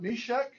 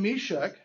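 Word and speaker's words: Meshech: Because it is sh sound.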